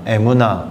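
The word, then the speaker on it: אמונה: 단어가 히브리어로는 이렇게 생겼고요 발음은 에나고 됩니다 에무나 여기에서 아멘이 왔어요 에무나 음가가 비슷하죠 여기서 아멘이 왔습니다 그러니까 내가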